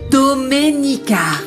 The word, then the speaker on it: Domenica: Tu as du mal à prononcer mon prénom. C'est Doménica.